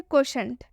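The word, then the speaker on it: quotient: मतलब कि टी आई ई को शे पढ़ेंगे, टी आई ई को शे पढ़ेंगे। आप आसानी से इसे पढ़ सकते हैं, क्वोशंट शे पढ़ रहे हैं टी आई ई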